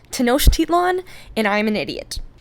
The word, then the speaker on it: Tenochtitlan: It looks like Tenochtitlan? It is pronounced Tenochtitlan, and I'm an idiot.